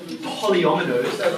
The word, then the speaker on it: polyomino: bit of a mouthful the way you pronounce it is polyometers that's what we're going